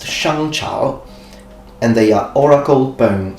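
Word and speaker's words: 商朝: to the Xiang dynasty, which in Chinese would be pronounced Shangchao, and they are oracle bone script.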